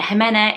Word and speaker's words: Jimena: So I'm pronouncing it Jimena.